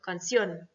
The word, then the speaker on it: canción: Et vous avez également tous les mots qui se terminent par ON ou par ION comme canción. D'accord? L'accent, il est sur le O, voilà, c'est obligatoire.